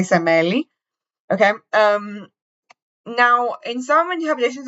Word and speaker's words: Semele: I only know how to say it in Greek. I know what their English like pronunciation of her name is, but in Greek we say Semele.